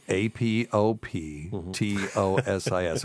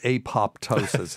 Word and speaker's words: apoptosis: a word that means programmed cell death it's AP o p t o s i s have we talked about this on the show